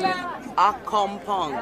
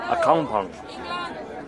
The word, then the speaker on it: Accompong: Accompong. How do you say this with name? Accompong. Accompong.